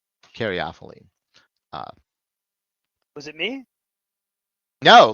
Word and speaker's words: caryophyllene: Merriam-Webster, though, says caryophyllene. No, caryophyllene. File, but it's an O, not off. So caryophyllene.